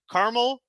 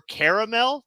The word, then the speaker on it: caramel: that are like that so caramel or caramel they're both correct there you go I'm